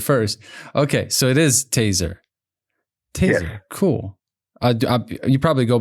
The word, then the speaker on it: Tayzer: So, it is taser.